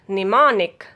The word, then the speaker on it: mnemonic: Silent letter M is if a word begins with MN, then letter M will be silent. Name, mnemic, mnemonic.